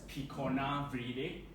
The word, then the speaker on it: Picornaviridae: So basically, it's pronounced as Picornaviridae.